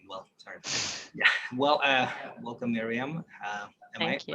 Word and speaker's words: Myriam: Well, welcome, Myriam. Am I Thank you.